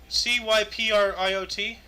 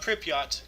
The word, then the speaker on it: Cypriot: Cypriot, C-Y-P-R-I-O-T, not Pripyat. Yeah, Cypriot.